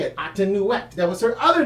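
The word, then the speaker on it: Amonute: That's how you say it, Atenuet.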